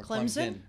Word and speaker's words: Clemson: Clemson or Clemson? It's supposed to be it's supposed to be Clemson. Yes. No Z.